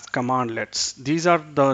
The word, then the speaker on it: cmdlet: So CMDLEts are pronounced as Commandlets.